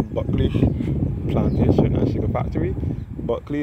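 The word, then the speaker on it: Bulkeley: Buckley is spelled B-U-L-K-E-L-E-Y.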